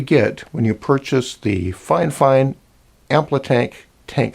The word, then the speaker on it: Fifine: bit other than that they asked me to pronounce their name fine fine because that's not exactly the English spelling and they didn't give